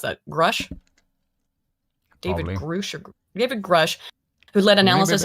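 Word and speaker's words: Grusch: we got it the form intelligence officer David grosh grush how do you think you pronounce that grush David grush who led analysis of unexplained oh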